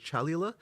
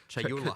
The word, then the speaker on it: Chayula: So the acolyte of, and I always get this name wrong. The acolyte of is it Chalula? Chayula. Chayula. I always say this wrong.